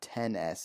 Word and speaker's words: XS: And if you go ask a third person, they may tell you that hold on, I got to say it right, 10S, There you go.